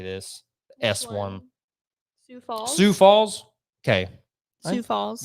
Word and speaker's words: Sioux Falls: Sioux Falls.